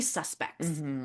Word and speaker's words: suspect: somebody robbed a bank and we have three suspects. The three people who we think did it. The verb form is pronounced suspect and it just means like I